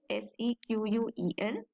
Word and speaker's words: SQL: Make sure that you pronounce the SQL as SQL, SEQUEL, SQL.